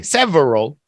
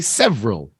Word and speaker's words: several: this is another one most people don't say several they just say several several especially the ER words pass see Justice